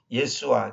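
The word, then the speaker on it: ישוע: 예수아, 그 히브리어로 예수아라고 그러죠.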